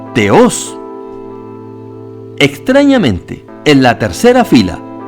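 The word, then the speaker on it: θεός: Dios sin que le preceda ningún artículo se pronuncia teos extrañamente en la tercera fila Pese a que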